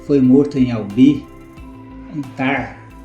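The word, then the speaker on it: Tarn: Ele foi morto em Albi, em Tar. Mas Tar se escreve T A R N.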